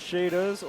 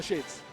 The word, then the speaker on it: Shades: match up like um is that supposed to be pronounced shaders or shad? Uh shades. Just straight shades.